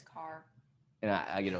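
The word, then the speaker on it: Kaur: rupee car yeah i don't know how to pronounce it car yeah it's car and i i get a lot of flack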